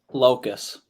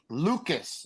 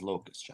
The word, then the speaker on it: Loukus: started off first one proper pronunciation of your last name Locus there it is boys there it is so when you hear Lucas on TV what do you think uh it's pretty common so I don't think it is yeah okay all right so okay so there we go so the proper pronunciation is Locust ladies and gentlemen all